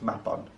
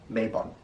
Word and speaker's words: Mabon: and why i don't like to call it map on but yes it is pronounced map on not mabon map bond the word mab in welsh means